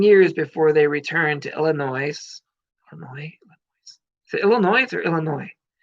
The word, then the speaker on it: Illinois: It don't pronounce the S. Illinois at the Sears Center, 5,000 plus people who were looking to be entertained with some amazing wrestling on that night.